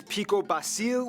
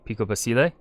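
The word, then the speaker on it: Pico Basilé: but with the proper pronunciation be picobasile would that because the accent mark over the e did i say it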